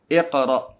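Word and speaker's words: اقرأ: Ini bukan dammah, ini fathah, bukan dammah. Jadi, pengucapannya adalah 'iqra'.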